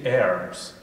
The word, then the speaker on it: herbs: You say herbs, I pronounce it herbs because there's an H in it.